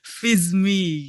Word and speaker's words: Viezme: oh menarik ya V Jadi kalau dipanjang itu jadi v is me aku gitu Oh oke oke Heeh jadi Ih k biar keren kalau fism kan bacanya susah gitu jadi s-nya di is-nya diganti jadi z Oke alahah anak SMA zaman dulu jadi fizmi gitu Heeh semangat anak SMA